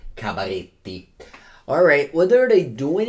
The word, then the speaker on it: Cabaretti: I have to pronounce it Cabaretti. Cabaretti.